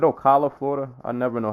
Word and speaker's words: Ocala: one number two said Ocala Flordia I never know how to pronounce this we're OC a la Florida a la it sort of sounds like Ocala yeah oh say Ocala Los Angeles California Newark